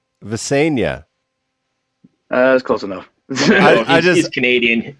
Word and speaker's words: Visenya: Can you give us the pronunciation of that name? Is it Visenya? Visenya, correct.